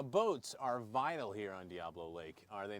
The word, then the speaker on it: Diablo: I mean, normally Diablo is how we normally would pronounce it, but here it sounds like it's pronounced Diablo. Well, you have to excuse me because I am from the Northeast, so I do have a little bit of slang different. But yeah, Diablo is the correct pronunciation.